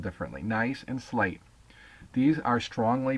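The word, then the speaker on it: gneiss: so it looks like ginise or gice but it's actually pronounced nice just like ni I but just spelled differently nice and slate these are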